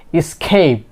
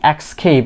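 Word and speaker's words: escape: সো এখানে কি হবে ইসকেপ, ইসকেপ, নট ইক্সকেপ। অনেকে আমরা কি এক্স উচ্চারণ করি, এক্সকেপ, এখানে কি এক্স নেই, ইসকেপ।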